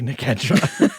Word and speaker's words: Nedra: going to get bullied I think it's probably Nedra it's it's almost certainly Nedra but you can pronounce